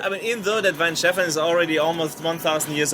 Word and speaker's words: Weihenstephaner: We're here with Weihenstephaner. Why the hell? I'm bearing the lead here. It's Weihenstephaner. I mean, screw you. It's your beer. I mean, even though that Weihenstephaner is already almost 1,000 years old, I'm only